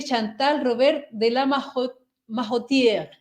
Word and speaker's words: Chantal Robert de la Majotier: Particularmente les estoy hablando de Chantal Robert de la Majotier. Creo que así se pronuncia.